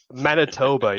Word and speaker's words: Manitoba: Manitoba, yes.